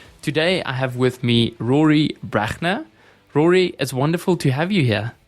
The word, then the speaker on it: Brachner: advice South Africa today I have with me Rory brachner Rory is wonderful to have you here thanks you pronounce it perfectly by the way thank you